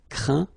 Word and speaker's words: craint: Okay, and as usual, final T here is not pronounced, so you get craint, contraint, plaint.